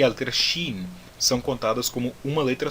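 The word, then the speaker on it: שׁין: O som do Sin é o som de S em sapo, e o som do Shin é o som de CH em chuchu.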